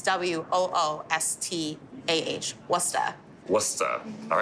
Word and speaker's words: Worcester: It's spelled Worcester. It really ends, it's W-O-O-S-T-A-H, Worcester.